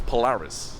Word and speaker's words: Polaris: much okay beautiful and the movie's polaris hilarious yes like rhymes with solaris i think some of